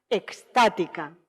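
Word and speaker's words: extática: el espíritu como conciencia estática con x soy andaluza y tengo que hacer un esfuerzo para pronunciarlo con es con x la experiencia originaria en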